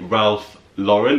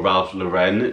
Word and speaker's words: Ralph Lauren: And it's this yellow shirt by Ralph Lauren, or Ralph Lauren, depending on how you like to pronounce it.